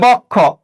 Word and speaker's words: বক্ষ: তাহলে বক্ষ। এখন লক্ষ্য করো, এখানে কয়টা নিয়ম হবে, বয়ের সাথে একটা অ আছে, পরবর্তী বর্ণে ক্ষীয় আছে। তাহলে আমরা কি বলেছি, অধ্বনির পরে যদি ক্ষীয় থাকে, অ উচ্চারণে কি হবে, ও হবে। তাহলে লক্ষ্য করো, তাহলে এই বয়ক্ষ, এই বয়ের অটা আমরা কি বললাম, ও বানিয়ে দিলাম।